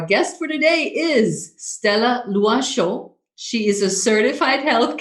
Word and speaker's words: Loichot: i'm going oh my god how do i pronounce this name she's like i got you it's lua and i was like awesome now stella you